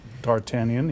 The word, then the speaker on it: D'Artagnan: And for number 4, how do you pronounce that? D'Artagnan. D'Artagnan, yes.